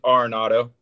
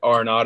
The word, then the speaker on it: Arenado: Yeah, well, last name's Arenado. I mean, you can call it whatever you want. You know, it's all good. But Arenado is how you say it.